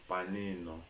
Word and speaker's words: panino: Panino. And then you said na, ne, ni, no, nu. So let's pronounce Pa, ni, ni.